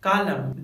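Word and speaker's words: column: इसीलिए ऐसे वर्ड को हम कहते हैं आटम, सोलेम, कालम, डैम, हिम, कंडेम, यानी इन सभी वर्ड्स में लेटर एन साइलेंट होता है।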